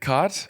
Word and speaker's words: khat: Is it cot? Is that how you pronounce it? Khat. K H A T or K A T. Khat or chat?